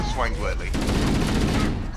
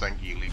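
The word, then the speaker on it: Sangheili: That was, I shot through his dumbass to get the other Swangwirly. Yes, I know it's pronounced Sangili, blow me.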